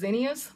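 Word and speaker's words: zinnias: but also zenas now I know the correct way to say them is zenas my mom always called them Zen uh Zen now I can't even say how she used to say it but they here's zenas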